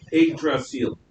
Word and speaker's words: Yggdrasil: Yggdrasil.